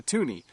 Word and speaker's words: toonie: Then when we decided to have a $2 coin, we thought we would call it a toonie because it's worth $2 and it rhymes with loony.